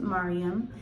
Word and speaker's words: Maryam: So that's why I tend to spell her name and pronounce it Maryam.